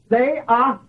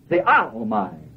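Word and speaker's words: θεάομαι: The second usage of the word beholding in the Bible is this word, theaomai. Theaomai. Theaomai. And that Greek word is spelled T-H-E-A-O-M-A-I.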